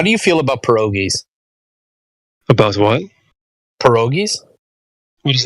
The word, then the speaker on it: pierogi: With like some piragi, yeah. Piragi, okay. Sorry, that's my American that's pronunciation. The English pronunciation.